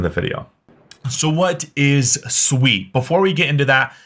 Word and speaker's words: Sui: is sweet and first off what's how's it pronounced it is sweet it is not soie I've been corrected multiple times so if you